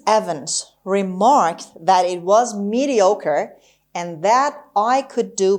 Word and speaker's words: mediocre: hair fairy mediocre mediocre the stress is on oh mediocre ochre mediocre means